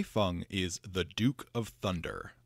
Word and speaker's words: Hei Feng: His name is typically pronounced Hei, like what a farmer harvests, and Feng, like feng shui.